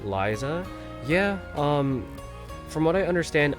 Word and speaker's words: Ryza: So R eventually gets, well, it does often sound like that, Liza.